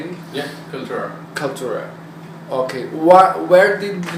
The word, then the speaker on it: Kaltura: Yeah, Kaltura.